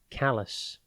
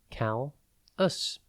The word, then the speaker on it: callous: one word at a time today's word is callus it is pronounced Cal us and spelled c a l l o u